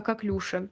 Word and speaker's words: коклюш: А тут мы думаем о коклюши, о какклюше правильно говорить, ударение на последний слог.